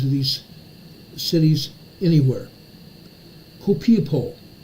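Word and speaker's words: Copiapó: 80 kilometers east of I can never pronounce these names of these cities anywhere. Copiapo, C-O-P-I-A-P-O, Copiapo, Chile, a 4.3 earthquake.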